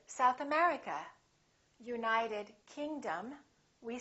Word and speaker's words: South America: names of places if the place has two words we stress the second word for example South America we say South America United Kingdom we say